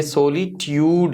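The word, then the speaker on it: solitude: ये ट्यूड की साउंड है, चूड नहीं है. ये देखें, ये सोलिट्यूड, ये जो जे यू आ रहा है ये बेसिकली ट्यूड, यू की साउंड दे रहा है.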